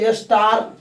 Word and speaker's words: star: फिर यहाँ पे देखिए आपको लिखा है ना स्टार, STAR। फिर बोले ना ए के बाद में आर रहेगा तो इसका उच्चारण आ होगा, इसे बोले स्टार।